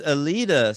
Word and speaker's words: Elita: And her name is Alita, spelled Elita.